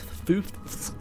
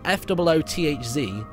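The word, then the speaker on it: Foothz: Like, Foofs is spelled F-O-O-T-H-Z. And you want to say Footh. But then you want to put the Z in there as well.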